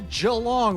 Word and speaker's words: Geelong: Today we're headed to Jalong, or if you're from America, it might be pronounced Gong for the second stop of the 2026 Iron Man Pro Series.